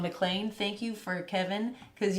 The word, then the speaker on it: McLean: arcade we actually stopped in a place called mlan thank you for Kevin cuz you were the